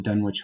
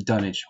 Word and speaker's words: Dunwich: haven't read about Dunwich I think it's called the Dunwich horror or the dunnage I'm sorry now they kind of use those two pronunciations interchangeably I would suggest to